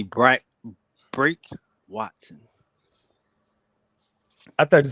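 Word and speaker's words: Brake: because it's real weird but just say br break Watson I thought you said Watson break Watson break however you want to do it Waton bre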